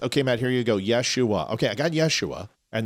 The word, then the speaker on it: Yeshua: Yeshua. Okay, so I was right. So it's Yeshua, which I pronounced correctly the first time I said it.